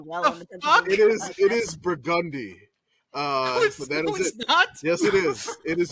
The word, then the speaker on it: Burgundy: why you do well it is it is burgundy yes it is it is the street in the French Quarter of New Orleans it is burgundy that is the pronunciation of it uh Street